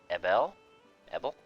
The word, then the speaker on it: Ebel: 55, and Prince Abel, I think it's Abel, but it's spelled like with an E. Prince Ebel?